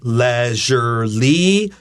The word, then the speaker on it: leisurely: e i s r so we can say leisurely with a short e Like Elephant but we also have a